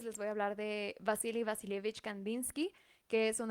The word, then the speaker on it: Wassily: Para empezar, su nombre se escribe Wasily Wasilievich Kandinsky, pero pues se pronuncia Vasily Vasilievich, porque pues él nació nada más y nada menos que en Rusia.